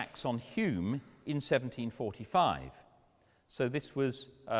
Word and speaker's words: Hume: Notice, by the way, that Hume, for the Scots, is spelt H-O-M-E. Hume changed his name to H-U-M-E. When he came down to Bristol in 1734, he was fed up with the English mispronouncing his name.